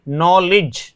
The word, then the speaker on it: knowledge: जैसे हम नॉलेज लिखते हैं ना, KNOWLEDGE, तो इसमें नॉलेज, तो देखिए डी का उच्चारण नहीं हो रहा है क्योंकि जी से जस्ट पहले डी आया है।